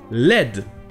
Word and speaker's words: led: Donc, le verbe led, L-E-D, c'est le verbe lead au passé, mais ça se prononce comme lead du plomb, alors que ça s'écrit comme le verbe to lead, L-E-A-D.